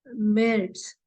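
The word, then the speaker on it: März: if you see why is missing so we'll pronounce it as February and not February okay then comes March for March it is merits now if you see there are two dots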